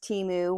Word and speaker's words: Temu: And oh, the consensus is it's pronounced Temu. One of my subscribers let me know that it was formerly called Team Up, and that's where Temu came from.